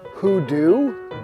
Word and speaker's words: Hoodoo: Hoodoo? Do rhymes with blue.